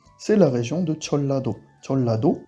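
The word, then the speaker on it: 전라도: Jeollado, s'écrit comme ça, donc Chon-da, mais se prononce bien Cholla.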